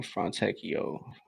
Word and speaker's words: Fontecchio: Um, yeah, Fontecchio, that's how you pronounce his name, Fontecchio.